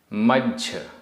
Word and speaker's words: मज्झ: मज्झ आधा ज झ मज्झ।